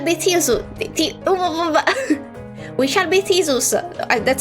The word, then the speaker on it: Theseus: We shall be Theseus.